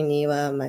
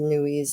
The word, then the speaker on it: NWEA: So NWEA, everybody pronounces it different. I say NEWA, somebody else says NUIs or whatever. A NEWA test is a standardized test.